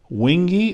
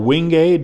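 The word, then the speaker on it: wenge: This is purple heart, white oak, wingy or wingay, depending upon how you pronounce it.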